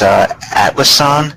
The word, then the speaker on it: Atlassian: This is Atlassian Corp, I believe it's pronounced.